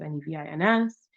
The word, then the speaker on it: Nevins: Um, you can also go to, if you look up Nevins, my last name is Nevins, Nevins.